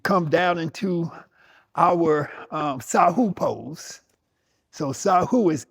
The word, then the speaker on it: sahu: Now, let's take about 3 to 4 minutes and come down into our um sahu pose.